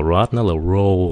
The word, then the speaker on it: road: Từ này là "road" (đường), đừng nói là "rot" (mục nát) nhé các bạn. Nhiều người nói "rot" (thối rữa), nhưng thực ra nó phát âm là "road" (đường), giống như tiếng lăn bánh. Đúng.